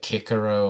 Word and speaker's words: Cicero: It's like I know like Cicero is actually meant to be pronounced like Kikaro or Karo or something like that, but it's like if